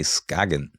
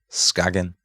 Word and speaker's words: Skagen: You actually say Skagen. Pronounce it like right in Danish, Skagen.